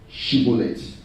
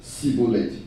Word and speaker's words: shibboleth: couldn't spell that word, shibboleth. If you read in Judges chapter 12, people from Ephraimites and Manasseh, they say Sibboleth. They couldn't call SH.